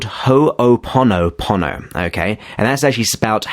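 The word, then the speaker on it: Hoʻoponopono: know if i will but it's actually called ho oponopono okay and that's actually about h-o-o-p-o-n-o-p-o-n-o so it's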